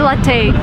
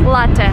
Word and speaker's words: latte: Porsche never never and don't say latte this is like the worst thing I've ever heard it's latte a lot is Italian word so if you drink coffee it's Latin not latte so we're looking at